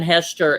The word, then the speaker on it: Hechter: starving artist and hester is v-a-n-h-e-c-h-t-e-r yes it's like hector right it rhymes with esther